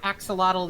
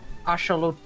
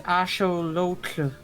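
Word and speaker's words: axolotl: forward I'm probably still going to say it axelottle even if I know now it is actually supposed to be pronounced ashelot ashelot. Yeah, you're right. It's ashol.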